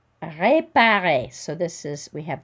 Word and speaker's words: réparer: Réparer. And we don't pronounce the final R.